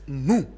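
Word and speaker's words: Nuer: We pronounce it new. N u ru.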